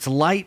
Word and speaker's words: LITE: And you have this event coming up that we were kind of talking about called LITE 2021.